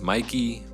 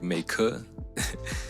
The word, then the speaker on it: Meike: The brand I thought was pronounced Mikey, but I watched a video and I think it's pronounced something like Meike.